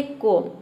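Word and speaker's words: comb: करते हैं जैसे कि देखिए यहां पे है कोम इसको हम प्रोनाउंस करते हैं कोम सी ओ एम बी देख सकते हैं एम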